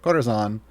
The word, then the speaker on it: Corazon: Every time I see this champion, I want to pronounce their name with this it screams Spanish, but that's not how the player pronounces their name. So Corazon.